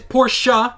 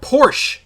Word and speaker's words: Porsche: we have porsche and yes it is porsha not porsche i don't care if you come at me and you start mocking me for pronouncing it correctly freaking americans porsche's logo